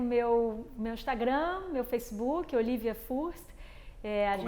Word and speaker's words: Fürst: Bom, eu tenho meu Instagram, meu Facebook, Olivia Furst. Como é que se escreve Furst? Para aqueles que não falam alemão? Bom, eu falo em português Furst, né?